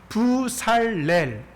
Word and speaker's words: 브살렐: 정확하게 말씀드리자면은 렐은요. 사례의 그 리을이 따라와 가지고 편하게 렐이라고 발음을 하는 것이지 원래는 무슨 단어예요? 예, 맞습니다. L이라는 단어입니다. 부살엘이라는 단어입니다.